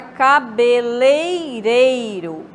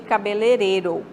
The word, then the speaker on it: cabeleireiro: Palavra cabeleireiro, em vez de cabeleireiro, tá? Tá subtraindo aí as vogais I, né?